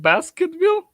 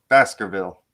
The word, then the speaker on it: Baskervilles: but the book was wait is it called basketville baskerville oh basker like a lot of lebron james